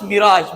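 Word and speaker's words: mirage: इसको हम कैसे प्रोनाउंस करेंगे? ये फ्रेंच वर्ड है। ठीक है? तो ये हमारे पास मिराज।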